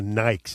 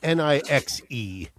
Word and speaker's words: Nixe: I would pronounce it the Nikes. They're from Holland. It's Nixe.